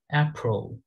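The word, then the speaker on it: April: অ্যাপ্রোল অ্যাপ্রোল অ্যাপ্রোল অ্যাপ্রোল, এখানে আমরা শিখেছিলাম এ কিভাবে এই উচ্চারণ হয় এন্ড আ উচ্চারণ হয়।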